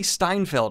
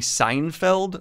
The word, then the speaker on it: Steinfeld: I always want to say her name, Haley Seinfeld, which is not right, and would be a very, very different show.